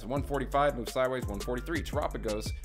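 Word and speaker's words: Terapagos: Tropigos, pronounced like Galapagos.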